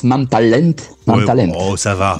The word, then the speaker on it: Mam Talent: Oui, enfin ça se prononce Mam Talent.